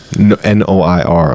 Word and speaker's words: noir: But the thing is that I go to It's definitely noir. I b one day. No army is black and white. Normy. N O I R.